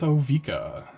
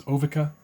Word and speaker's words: Ovika: And I'm going to start with Ovika, Enigma Goliath. I've definitely heard, pronunciations Ovika, but this is my deck.